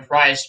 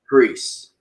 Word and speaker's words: Priest: But right now we have Leon Ruff, Johnny Gargano, and Damian Price in a triple threat match for the NXT North American title. Actually, it's pronounced Priest. Price, you get the idea.